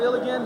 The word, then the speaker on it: Illgen: Illigan, go ahead. You don't face me. what's the correct pronunciation? Illgen.